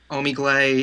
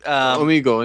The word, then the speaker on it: Omegle: And usually I go on what's the site pronounced? Omegle. It's like a thing. Oh, Omegle, yeah.